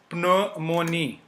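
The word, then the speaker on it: pneumonie: So it is not pronounced ji. Psychology, which means psychology. Okay. Then the second sound example is pneumonia.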